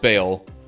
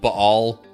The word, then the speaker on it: Baal: terms of worship of Bale which you might also hear pronounced B all but in order for it to flow smoothly when I'm saying it just Bale works better of course he says